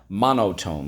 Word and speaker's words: monotone: Yes, because in this case, the silent E makes the O say O.